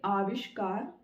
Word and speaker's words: आविष्कार: तो आविष्कार बोलेंगे, जब अ बोलेंगे तो लिखेंगे भी अ, लेकिन अगर बोलेंगे आविष्कार तो वो आ की साउंड देगा, मतलब अ से ज्यादा लंबा प्रोनाउंसिएशन उसका होगा।